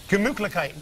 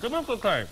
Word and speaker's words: Gemütlichkeit: Gemütlichkeit. Gemütlichkeit.